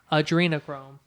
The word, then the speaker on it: adrenochrome: time how's it pronounced adrenochrome like Adrien Chrome that's the joke yes